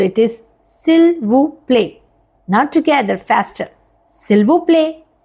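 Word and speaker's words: s'il vous plaît: French yes it's quite polite so वी से सिल व प्ले रिपीट आफ्टर मी सिल व प्ले नाउ all together this this you know whole thing is just one word so इट इज़ सिल्व प्ले not together फ़स्टर सिल्व प्ले सिल सिल्वो प्ले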